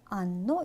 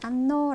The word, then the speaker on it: hanno: 예, 이탈리아어에서 아까는 묵음이에요. 그래서 소리가 나지 않아요. 그래서 그 뒤에 있는 모음 그대로를 발음해 주시면 되세요. 그래서 o, I, a, abbiamo, avete, hanno 라고 해주시면 되세요.